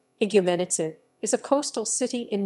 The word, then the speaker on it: Igoumenitsa: greek pronunciation higumenitse is a coastal city